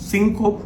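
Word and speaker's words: syncope: সিংকপ যদিও আমরা প্রোনাউন্সিয়েশন যখন করব তখন এটাকে সিংকোপি বলব।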